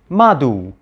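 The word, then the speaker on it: mdw: cool right so anyway we egyptologists pronounce this word as medu and in plural something like medu when in reality the ancient Egyptians would have actually pronounced this word as madhu at least before the New Kingdom similarly the word hetep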